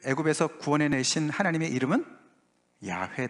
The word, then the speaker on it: 야훼: 성사 학자들이 연구를 해봤더니 여호와 라는 발음은 아니고 아 야외 가 맞다 야 예 그래서 야외가 정설로 붙이면 받아들여지고 있습니다 그래서 이스라엘 백성들을 애굽에서 구원해 내신 하나님의 이름은 야훼 다 yahweh 다라고 아시면